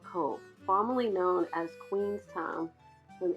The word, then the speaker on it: Cobh: Later, following the Irish independence from Britain, it was renamed Cobh, which is the Irish word for cove and is pronounced the same.